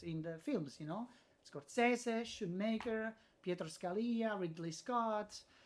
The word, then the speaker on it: Scorsese: you know this or Scorsese. I use the Italian pronunciation. good, Martin that's good. Scorsese.